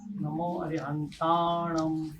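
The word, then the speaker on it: णमो अरिहंताणं: तो कैसे होगा उसका उच्चारण? नमो अरहंताणम। ये जो म किया ना मैंने, होठ से नहीं किया है, नाक से किया है।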